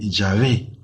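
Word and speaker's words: Yahvé: dios no le da el nombre sagrado de llave algunos dicen jehová pero jehová es una forma equivocada de pronunciar las letras en hebreo en every hasta escritos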